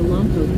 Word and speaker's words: Lompoc: You pronounce Lompoc wrong. It's pronounced Lompoc.